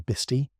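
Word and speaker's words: Bisti: Bisty, pronounced roughly bestie, is a Navajo word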